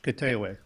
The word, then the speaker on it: Koteewewi: Koteewewi, and it's pronounced Kitewe.